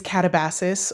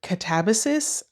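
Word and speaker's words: Katabasis: Next up is Catabasis or Catabasis. I pronounce it Catabasis, and I saw an interview with R.F.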